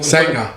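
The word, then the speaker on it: Sanga: Sanger. Bakari For Sanger. actually for Sanger. Australian tongue, it's Sanger.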